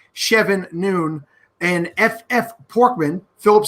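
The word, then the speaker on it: Chevboird: Nate Christian shev Boyd it looks like Chef Boyd Rd but the the way it's spelled is c h v b o i r d chevan noon and FF porkman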